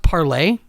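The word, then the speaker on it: Parler: Is he on Parlor or whatever it is? Oh, look above me. It's supposed to be pronounced parlay, but it's not because fuck them.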